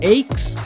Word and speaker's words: Aix: Então, dormi numa cidade que, segundo o Google, se pronuncia aes e fica na região da Provença, um lugar famoso pelas plantações de lavanda que deixa um cheiro bom no ar.